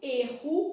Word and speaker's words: erro: letra, eu sei que eu falo erro com dois Rs, né? Usando aqui, diferentemente de er, por exemplo, que esse R é pronunciado de forma mais vibrante. Era, diferentemente de erro, erra, R, né? Pontinha da língua lá e erro, que é mais vibrante.